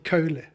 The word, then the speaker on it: Kohle: In the Netherlands, they say Kohle. Okay. Meneer Kohle. Kohle. In Germany, it's Herr Kohle.